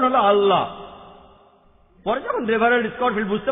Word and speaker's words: আল্লাহ: ভাবে উচ্চারণ করলে আমরা বলব আল্লাহ তারা বলে এলাহ সমস্যা নেই তবে সঠিক উচ্চারণ হলো আল্লাহ পরে যখন রেফারেল স্কোর বুঝতে পারলেন যে তিনি